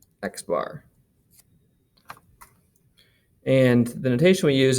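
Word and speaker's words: x̄: little line over top of it and we pronounce this x bar x bar and the notation we use is x bar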